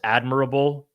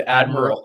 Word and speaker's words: admirable: Did I pronounce admirable improperly? Is that not the way that is it? Do people say admirable? No, that's admirable. Admirable is the way. No. Yeah. I'm being mocked in the chat for the pronunciation of this. If you said it wrong, I didn't hear it. But yes, it's admirable. Oh, you said admiral.